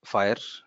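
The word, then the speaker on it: FHIR: Then There came our fire uh we FH which we pronounce it as fire so many people ask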